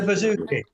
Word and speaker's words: bouzouki: It's the bouzouki.